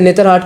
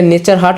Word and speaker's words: नेतरहाट: आप यहाँ पे नेतरहाट चले जाए, वैसे नेतरहाट का एक अलग है कहानी, मतलब वो नेतरहाट नहीं, उसको पहले नेचर हाट बोला जाता था। अच्छा, लेकिन हाँ, नेचर हाट मतलब जो, लेकिन यहाँ के लोगों का प्रोनाउंसिएशन थोड़ा सा अच्छा नहीं था तो उसको नेतरहाट बोल दिया गया।